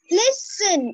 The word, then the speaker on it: listen: Which letter is silent? T, because it's listen, it's not have a sound T.